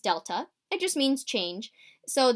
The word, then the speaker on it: Delta: this triangle x thing that triangle is pronounced Delta it just means change